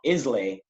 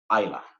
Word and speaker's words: Islay: So it's not Islay, it's actually pronounced Islay.